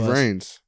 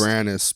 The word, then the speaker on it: Vranis: Slogan for March: Spencer Payne and me, and Nate Vrains. Honestly, the slogan for March could just be the Uncontested Podcast. Well, it's Vranis, but Vrains is better because it rhymes with pain a little bit.